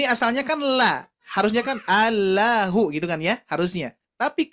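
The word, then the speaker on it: الله: ha ataupun Dom domma Jadi dibacanya adalah Allahu bukan la tapi lo nah ini ini yang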